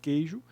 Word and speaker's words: queijo: Quando a gente pronuncia a expressão queijo, a gente não pronuncia o QU, né? A gente só pronuncia uma única letra, né? Um único fonema, melhor dizendo.